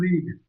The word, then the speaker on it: read: लेकिन यहाँ पर ध्यान देने की बात यह है कि इस तीनों का ना स्पेलिंग सेम है, लेकिन इसको पढ़ा अलग अलग जाता है। जैसे इसको पढ़ते हैं हम लोग रीड, इसको पढ़ते हैं रेड, इसको पढ़ते हैं रेड,